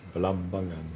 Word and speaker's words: Balambangan: Because you have to put the stress. I find that you put the stress on the second syllable. Yes. Balambangan.